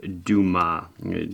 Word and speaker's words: Dumas: to the uh spinnaker duma spelled dumas d umas but i guess in pronunciation the s is silent but i always think